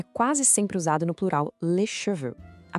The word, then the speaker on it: les cheveux: Em francês, a palavra cabelo é quase sempre usada no plural les cheveux. A pronúncia é les cheveux. Note que o X no final não tem som, ele é mudo.